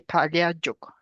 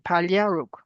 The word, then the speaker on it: Paliaruk: So they reestablished themselves and have the original name Paliaruk. There's a little slightly difference there. Paliajuk, we used to pronounce it Juk, but it's Paliaruk.